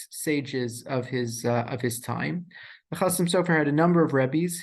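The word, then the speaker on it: Chasam Sofer: So I say Chassam Sofer, even though the academics would say Chatam Sofer, but it's my belief that we should probably pronounce the things the way that the people themselves pronounce the things. I can assure you, to the extent that the Chassam Sofer ever said the words Chassam Sofer, he said Chassam Sofer and not Chatam Sofer, even though I'll come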